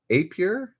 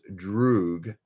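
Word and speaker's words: друг: An image of a villainous death claw from what game became a meme known as Apyr? A-P-Y-R? Apyr? Actually pronounced Droog, Russian for friend.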